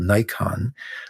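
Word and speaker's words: Naikan: And the other approach that we teach is something called Nikon, which is pronounced like we pronounce the camera Nikon, but spelled differently.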